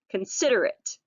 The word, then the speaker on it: considerate: three has four syllables we have con SID but consider it all right looks like eight at the end doesn't it consider it alright and the definition for